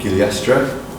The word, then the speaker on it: Guillestre: summit of the day, as we leave Guillestre, again French pronunciation, thank you, up to the Col de Var.